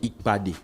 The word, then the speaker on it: Ikpad: Avec un beau fit, vous avez fait Ikad. C'est quoi ik ? La rencontre. La rencontre. Oui, normalement c'est Ikpad.